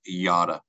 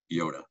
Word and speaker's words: Yotta: name of your company is it Yoda or is it yada and the answer is yada not Yoda just love this slide